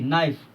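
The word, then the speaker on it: knife: एन आई एफ ई नाइफ इसमें देखिए के का उच्चारण नहीं हो रहा है उसी प्रकार देखिए ई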